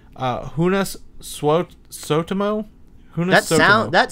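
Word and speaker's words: Joonas Suotamo: this guy he's from he's finished his name's pronounced unas Swope so to mow that's now that sounds like a Star Wars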